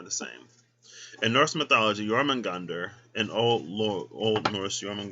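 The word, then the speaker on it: Jörmungandr: and jormungander are the same in norse mythology yorman gander an old old norse roman gander pronounced jormungandr meaning huge monster also known as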